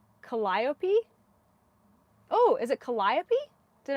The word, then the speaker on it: Calliope: The accent is on the lie. So it's Calliope? Oh, is it Calliope? Did I get it? Calliope.